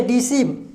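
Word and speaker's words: deceive: तो देखिए फोकस बोलिए डिसीव, अगर डिसीव बोलेंगे तो किस पे? ई पे फोकस जा रहा है, डोमर्सी के फोकस जा रहा है ई पे।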